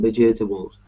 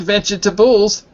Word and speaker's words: vegetables: This includes about 45% of all fruit and vegetables. Wait. Not vegetables. Vegetables. Vegetables. Good.